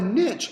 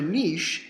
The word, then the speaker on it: niche: So a niche or a niche and really which way you pronounce it really doesn't matter because you're going to be writing it most of the time. I've heard it pronounced both ways.